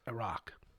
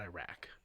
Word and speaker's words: Iraq: It's pronounced Iraq. Iraq, whatever. Yeah, not Iraq.